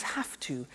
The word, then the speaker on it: have to: pronunciation I have to notice I don't say V I say s have half it becomes half to have the two becomes